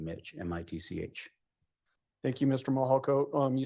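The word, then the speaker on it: Mihalko: court reporter you bet my name is Mitch mahalco good morning I'm a commander with the El Paso County Sheriff's Office my last name is spelled m-i-h-a-l-k-o first name Mitch m-i-t-c-h thank you Mr mohalco um you said that you're a commander with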